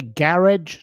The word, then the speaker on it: garage: You say you say garage to rhyme with barge.